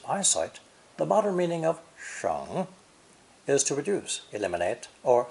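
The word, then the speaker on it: 省: Both are third tone, pronounced either sheng, sheng, or xing, xing, depending on the meaning.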